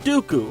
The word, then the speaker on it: Dooku: While Lee was portrayed in a number of memorable roles such as Saruman the White, and the rhymes with Poo-Poo, Count Dooku from the worst Star Wars movie.